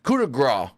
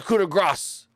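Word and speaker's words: coup de grâce: It's the coup de grace, even though it's spelled Grace, yet Kevin Patrick says it literal. Oh, the coup de grace, the coup de grace.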